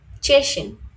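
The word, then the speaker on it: Tschechien: আচ্ছা, এইটার উচ্চারণ হচ্ছে চয়ের উচ্চারণ হবে। তে এস সেহা যদি ফার্স্টে থাকে তাহলে উচ্চারণ হবে চয়ের উচ্চারণ। তাহলে হচ্ছে এটা চেশেন।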